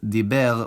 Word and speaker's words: דיבר: singular past of לדבר is דיבר with [e], not [a], and I occasionally put the stress on the wrong syllable.